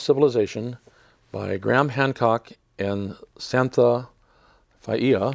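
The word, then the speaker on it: Santha Faiia: This book is called Heaven's Mirror, Quest for the Lost Civilization by Graham Hancock and Santha Faia, I believe is the correct pronunciation.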